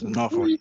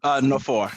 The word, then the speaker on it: Nwafor: Nwafor? Yes, how are you? Yes, Nwafor. Say it again. Nwafor, yeah, Nwafor, the W is silent, yeah.